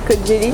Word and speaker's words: Kocaeli: Et Kocaeli, voilà, ça s'écrit Kocaeli, mais ça c'est Kocaeli.